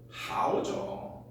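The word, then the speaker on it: 好: 하오죠.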